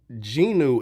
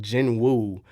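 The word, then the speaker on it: Jinwoo: languages one thing uh so ginu is spelled j n w w so people have been calling him Jin wo in like different Lang like I think you can't even hear them saying ginu in the Japanese uh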